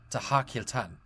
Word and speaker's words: Tahakiltan: And the name should actually be pronounced Tahakiltan.